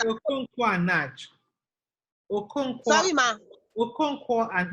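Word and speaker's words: Naish: I said Okonkwo and Nach. Okonkwo. Sorry, ma. Okonkwo and Nach is spelled N-A-I-S-H.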